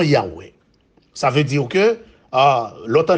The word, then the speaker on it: Yahweh: Le mot Jéhovah, c'est une prononciation défectueuse du nom Yahweh.